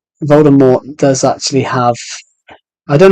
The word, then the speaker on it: Voldemort: the silent T yeah it should have been a silent T but then they got